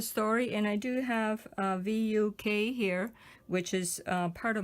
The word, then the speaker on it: Vuk: And so you pronounce it as V-O-O-K, like Vuk. Vuk.